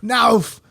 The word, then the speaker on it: NAWF: You say NAWF. NAWF. It's NAWF. NAWF. NAWF. NAWF. That's how you say it.